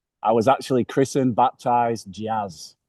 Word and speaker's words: Jaz: Today we're joined by Yaz. How you doing, Yaz? It's actually Jazz. You pronounce it like the music, but it's just onesie.